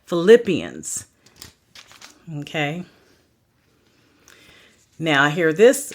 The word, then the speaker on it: Philippians: i a n s so like Philip Philippians okay now I hear